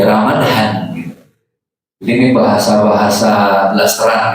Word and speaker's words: Ramadan: Ramadan aslinya kan ro mim d alif nun. Pak dibacanya panjang ya. Ramadan masuk Indonesia jadi Ramadan. Ini orang Indonesia maunya making simple, enggak mau ribet, enggak mau riwuh. Makanya di KBI Ramadan itu tanpa H.